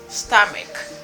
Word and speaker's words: stomach: After the word chaos, we have STOMACH. Stomach. Stomach. Parce que c'est H ça lui même les prononcer comme stomach qui veut dire ventre.